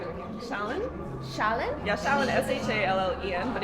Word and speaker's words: Shallen: Shallen? Shallen? Yeah, Shallen. Shallen. But in Korea, they just say because the pronunciation is like hard.